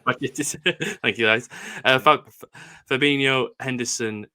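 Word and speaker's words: Bajčetić: It's Stefan Bajcetic. Bajcetic.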